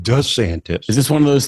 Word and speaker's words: DeSantis: our Great American comeback most notable to actually was the way he pronounced his own name nobody has called him d santis he's always been called DeSantis is this one of